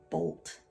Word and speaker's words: bolt: It's one syllable. It's a long O. Box that glued sound. It is a closed exception since it's old. Looks like it should be short, but it's long.